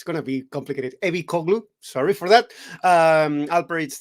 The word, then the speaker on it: Ebicoglu: Yeah, how it's pronounced. Sorry, you can say it. Ebicoglu.